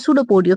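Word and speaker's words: pseudopodia: It push out टू वन और मोर finger like projection called सूडोपोडियो P silent tiger याद रखना।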